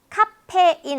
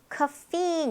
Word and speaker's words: caffeine: 카페인 아니고 카페인 이렇게 될 겁니다.